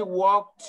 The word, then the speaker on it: walked: Ojo, también este walked es como una T al final. ¿Sale? We walked too. O sea, no porque vean la ED la quieran pronunciar. No, walked.